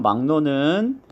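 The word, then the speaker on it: 막론: 자, 3번 막노는 기역하고 리을하고 만나면 기역의 비음이 이응입니다.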